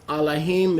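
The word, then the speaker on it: אלהים: The reason I'm saying Elohim is because Aleph is pronounced Ah without the vowel pointing. Elohim is also fine, but there's no E letter in Hebrew other than if and when the ayin is used as an E. So technically it's Elohim, but Elohim is also acceptable.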